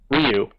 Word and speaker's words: Ryu: forth between bison and Ryu which by the way that is a correct pronunciation Ryu not all those who pronounce it rayu but R uh props